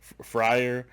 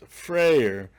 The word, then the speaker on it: Freyr: next up is frayer i've been saying it wrong the whole time i said i said friar it's frayer which is coming public